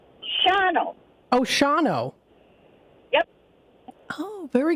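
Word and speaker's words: Shawano: h a w a n o but it's pronounced Sho oh Shao yep oh very good to know sh okay so it's Shao shoh very good so anyway there iide from that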